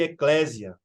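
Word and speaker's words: ἐκκλησία: uma palavra grega que significa ou que se pronuncia eclecia né E que latimizando Alguns chamam de Eclésia mas que o seu sentido lá não era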